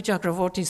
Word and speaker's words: Chakravorty: as pie the because they had hired Gayathri Chakravarthi Spivak I was in other words a single